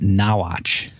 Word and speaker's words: Norwich: She said it's actually pronounced Nawatch. Nawatch. Yeah, Nawatch. Thank you, Kate, so much for that. Don't look at the comments, Dustin. Norwich.